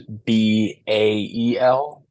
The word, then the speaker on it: Bael: Is it Baal or Ball or I don't even know how to say it. Yeah, so I think the demon itself in the Goetia is Bael, Yep.